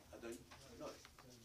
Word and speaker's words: Adonai: And he says, we don't pronounce Yud-Kei Vav-Kei, we pronounce it Adonai.